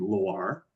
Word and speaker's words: Loir: Vendomois, is also named Loire, at least in the English pronunciation, but it's Loire without the E. So it's Loir, which is this tributary that runs up here.